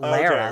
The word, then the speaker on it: Lara: Yeah, although her name's not Laura. So let's start with that sin Laura, that you that's just committed. Laura. I was pronouncing it in like the British inflection, not Lara. Okay, well then you need to have a whole British accent in the whole sentence, or it just sounds like you're mispronouncing her name.